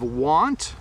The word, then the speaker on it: want: Says, the pronunciation of want versus won't.